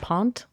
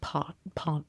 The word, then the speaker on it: pant: Pronounced pont. Pont. It looks like I say it wrong. Yes. And it means deposit or to deposit in. It's pont.